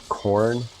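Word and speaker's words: Khorne: different banners I think that's the sign of corn which is one of the the gods it's spelled like k-h-o-r-n-e I think not corn like the uh the vegetable or I guess it's a grain technically infighting is very common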